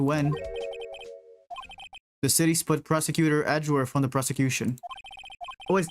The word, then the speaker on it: Edgeworth: It's Edgeworth.